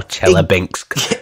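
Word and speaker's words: Chelyabinsk: South Russia near Kazakhstan think that's how they pronounce it as well chela Binks exactly like that it's funny I was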